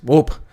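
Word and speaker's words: De Hoop: the wild at the dwop reserve that's right folks yeah hopefully i pronounce it correctly enough for cons it's spelled hope but it's not hoop it's whoop the whoop reserve 30 juvenile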